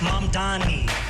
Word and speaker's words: Mamdani: The name is mom D.